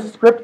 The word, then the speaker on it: Cycript: Etc scripts code so if you go to script. org and by the way that's how I pronounce it it's the Cy is gemin s